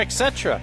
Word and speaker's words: etc.: etc. There you go. Yeah. Okay. Etc. Etc. Yeah. It is pronounced etc. etc. etc. etc. There's no ek. Like Jason Eck.